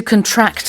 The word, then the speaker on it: contract: So, uh first off the the stress is on the second syllable as a verb to contract as opposed to a contract which is something you sign in a deal.